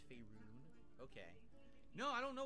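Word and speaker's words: Faerûn: It's pronounced Faerun. It's not Faerun, it's Faerun.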